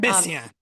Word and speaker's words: Messiaen: I'm not pronouncing him, but he did the quartet at the end of time. Um, Messiaen.